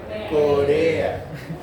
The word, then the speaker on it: corea: Singleton y me faltan Una sílaba, dos sílabas, tres sílabas. Palabra trisílaba. No lleva tilde. No lleva tilde. Si esta fuera la acentuada, sería una palabra esdrújula. Todas las esdrújulas llevan tilde. Por lo tanto, no es esdrújula. Si fuera una palabra aguda, termina en A, llevaría tilde. No lleva tilde, por lo tanto tampoco es aguda. Es una palabra grave. Se dice Corea.